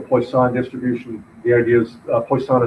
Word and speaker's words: Poisson: what's sometimes called a Poisson distribution the ideas placed on is the French word for fish I'm probably mispronouncing it really badly but I'd have to